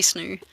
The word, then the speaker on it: Snoow: I'm like, it is fucking snoo. It's spelled SNOOW. Fucking snoo.